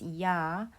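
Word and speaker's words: ㅑ: lines to the right this is pronounced as yah by combining the semivowel sound of e with the vowel of r e plus a makes y the following two vowels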